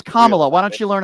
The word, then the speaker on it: Kamala: Well, I actually voted against Kamala Harris, if we're going to be. It's Kamala.